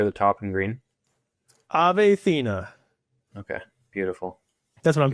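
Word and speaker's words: Ethena: And how do you pronounce that name right there at the top in green? Athena.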